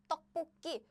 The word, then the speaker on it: 떡볶이: So what happens is this sound goes here. So the pronunciation is 떡볶이.